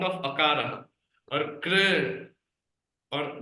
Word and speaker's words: कृ: She is not pronouncing like crew, Prabhuji. She not crew. She is pronouncing as kr. Just maybe elongating a little bit more. Kr, but not crew. Definitely not crew.